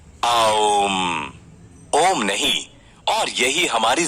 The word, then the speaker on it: ओम: है ऐसे जो साउंड निकलता है वो है ओम ओम नहीं और यही हमारी जिंदगी है देखा